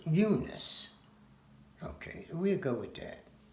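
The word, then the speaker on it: Unas: So there was a pharaoh, His name is spelled U-N-A-S. Now, I pronounce it Eunice.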